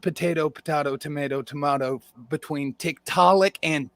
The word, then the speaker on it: Tiktaalik: It's not potato, tomato between Tiktaalik and Tickleick. Tickleick is nothing. Tiktaalik. Tiktaalik.